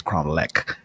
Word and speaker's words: Cromlech: It's CROM. I'm pronounced it wrong. It's Cromlech. It's CROMLECH.